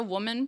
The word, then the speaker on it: WOMXN: So our name is the Woman Project Education Fund, and we spell it with an X, so WOMXN.